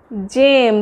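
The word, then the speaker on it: gem: যেমন দেখুন জি ই এম, এটা কি উচ্চারণ হচ্ছে, জেম। যদি বাংলায় লিখি তাহলে দেখুন জেম উচ্চারণ হচ্ছে, তো মানে রত্ন যেটাকে বলে সেই জেম।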